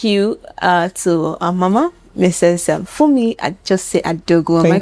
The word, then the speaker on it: Funmi Ajose-Adeogun: Funmi Ajose-Adeogun. Am I correct with the pronunciation?